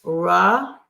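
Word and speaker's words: רחובות: So we have resh, chet, colon vav, vet, colon vav, ending with a tav for the plural ending. So rahovot.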